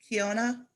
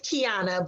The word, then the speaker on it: Kiana: Why did I have is it Kiona? Did I say it right that time? It's Kiana, but you can say Kiana.